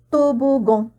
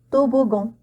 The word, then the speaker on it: toboggan: Cette fois-ci, on a A-N, donc on va le prononcer en toboggan, toboggan.